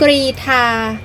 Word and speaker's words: กรีฑา: แข่ง ขัน โอลิมปิก 2024 กรีทา อ่าน ว่า กรี หมาย ถึง กีฬา ประเภท